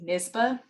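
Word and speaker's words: NYSBA: a professional organization for new york lawyers it's pronounced nisba um nisba offers publicly for free certain templates okay i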